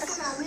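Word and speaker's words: tsunami: Ma'am T सुनामी नहीं होता, सुनामी होता है, इसमें टी साइलेंट होता है।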